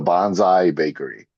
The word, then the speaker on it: Bonsai Bakery: How do we pronounce this? Bro, it's the Bonsai Bakery.